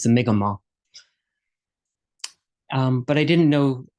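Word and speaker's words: Mi'kmaq: told me one year that um it's not pronounced mcmack which is the angiz of the word it's the migma um but I didn't know a lot but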